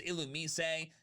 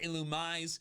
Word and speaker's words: Illumise: Are y'all just mad that the official pronunciation is Illumise and not Illumise?